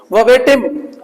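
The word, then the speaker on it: verbatim: वर्बेटिम, वर्बेटिम, वर्बेटिम, वर्बेटिम, इसमें are silent है।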